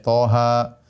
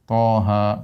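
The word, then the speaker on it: طه: Toha, Yasin, ya. Dan ini banyak dalam Al-Quran, seperti Toha, ya. Kemudian apa? Yasin.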